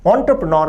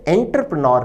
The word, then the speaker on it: entrepreneur: विद्यार्थी ध्यान दें, शब्द एंटरप्रेन्योर का अर्थ है उद्यमी या व्यवसायी। विद्यार्थी इसके उच्चारण पर भी ध्यान दें, यह शब्द एंटरप्रेन्योर नहीं है, एंटरप्रेन्योर है, उद्यमी।